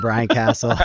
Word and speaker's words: Casel: I have Brian Casel with me. Oh my God, I literally just did it again. Brian Casel. That's cool. Just correct. It's been like hard coded into my brain, the wrong pronunciation for like way too long.